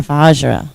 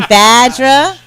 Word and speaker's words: Vajra: we are vajra vajra I've been saying it wrong all day vajra uh oh yeah what are you saying badra no I thought was RA VAR that's it yeah the silent Jay gets you every time silent j a lot